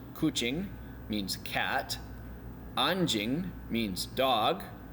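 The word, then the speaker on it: kucing: new words coching coching remember the C is pronounced as a CH coching means cat aning means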